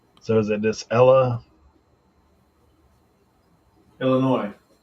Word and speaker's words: Illinois: You don't pronounce the S at the end of Illinois. So is it this Illinois? Illinois?